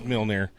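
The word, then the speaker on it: Mjölnir: It looks like Mjolnir. Mjolnir because it's freaking It is Mjolnir.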